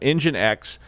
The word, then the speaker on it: nginx: you say it but engine x is how you're supposed to say it but then i always